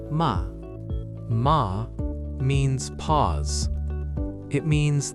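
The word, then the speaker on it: 間: There is a beautiful Japanese concept called Ma — pronounced mah.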